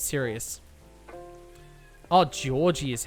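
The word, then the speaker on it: Jorji: Oh, Georgie is how it's pronounced or George E. Okay. I've been saying George E, haven't I?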